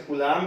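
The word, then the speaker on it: Coulomb: कुलाम, last में बी था, B silent है, वैसे कुलाम है।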